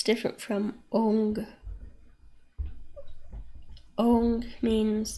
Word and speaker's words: Om: That the Om that you hear about is not pronounced Om. It's pronounced Ong. O-N-G. And why that is because your tongue hits some different meridians while you're making that sound. So Om is just Om. It's just achieved with the lips.